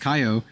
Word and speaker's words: Kaio: I learned from Yui that Kaio is in Japanese is pronounced Kaio, but it's a girl's name.